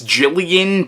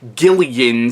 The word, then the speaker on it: Gillian: name pronounced both ways now I know technically the name is Jillian but I've heard it pronounced Gillian so I'm not sure